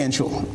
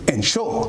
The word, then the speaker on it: ensure: He doesn't say ensure. He's going to say ensure. And he's got that emphasis. Yes. On both syllables, so to speak, and it seemed to